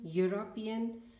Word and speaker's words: European: So in these words, we will see that all the university, union, European, they are starting with a vowel, but they are pronounced as consonant.